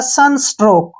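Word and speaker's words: sunstroke: उच्चारण क हो गया और ई का उच्चारण हम नहीं करते हैं लास्ट में ये हो गया हमारा सन स्ट्रोक क्या हो गया सन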